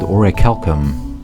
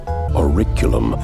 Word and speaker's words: Orichalcum: human nervous system with an ancient substance called Orichalcum, or according to the voice actors, Auriculum.